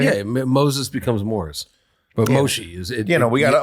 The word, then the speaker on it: Moshe: But Moshe is it.